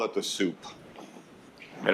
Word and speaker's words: sup: We just call it the soup and it's pronounced like a bowl of soup.